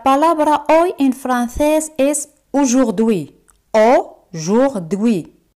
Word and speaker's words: aujourd'hui: La palabra hoy en francés es aujourd'hui. Aujourd'hui. AU se pronuncia como O.